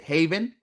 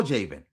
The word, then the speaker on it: Javen: And for all you also before I get off that, my name can be you can pronounce it Haven or Javin. I take it I take either one.